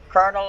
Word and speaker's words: colonel: and the colel Citron Colonel is Colonel is spelled that way it sounds like that because